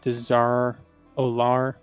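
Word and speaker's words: Dazar'alor: So there's a boss in Battle Dazaralar. So how you say it? Dazaralar?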